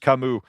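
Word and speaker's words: Camus: Everybody's saying it's pronounced Kamu.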